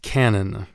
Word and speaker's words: canon: it's pronounced Canon not canot but when you have an ongoing